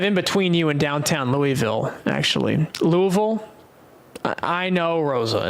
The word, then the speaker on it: Louisville: It's kind of in between you and downtown Louisville, actually. Louisville. I know, Rosa. It's Louisville.